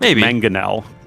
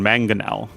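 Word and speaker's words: mangonel: And it's pronounced manganel, though it's the second one, manganel.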